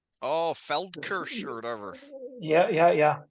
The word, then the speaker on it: Feldkirch: So the town was Felkir. Oh, Feldkirch or whatever.